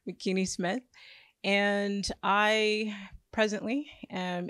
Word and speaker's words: Makini: My name is Makini, rhymes with bikini, Makini Smith.